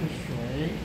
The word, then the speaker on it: 誰: 还有我们发音现在有两个发法，真正的发法应该是水。